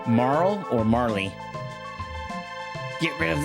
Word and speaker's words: Marle: Yeah, it's pronounced as Marl as you saw. I know. I know. But I was always a Marley kid.